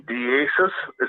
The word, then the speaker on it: Diassis: Can I give, is his name Diassis? Am I saying it right? Yeah. Hey, how's it going? Can I give my phone number to him? Absolutely. Yeah, that's fine. Diassis, my phone number is, I guess, I don't